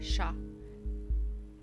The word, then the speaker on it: chat: not this way wait if you're french you say chat even though you're like shah hmm how do